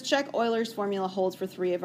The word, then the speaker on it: Euler: up now there's a guy a mathematician named euler this is not euler that's what it looks like okay it is